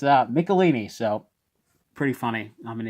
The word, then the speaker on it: Michelinie: research his work this is also early david michelinie writing this which obviously I've read a lot